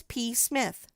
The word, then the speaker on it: Psmith: The name is P. Smith. P. Smith. The P is silent.